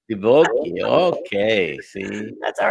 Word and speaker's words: Divoky: no, there's no S. It's Divoky. Divoky.